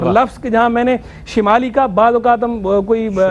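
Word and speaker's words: شِمال: بالکل جی ہاں، شمال، حالانکہ اصل لفظ جو ہے وہ شمال ہے، شین کی زیر کے ساتھ۔ اب اردو کے اندر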